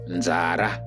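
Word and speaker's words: nzara: becomes this word and this is how you pronounce it zara zara but on the other hand if you translate hungry or hunger into shona it becomes zara zara let's use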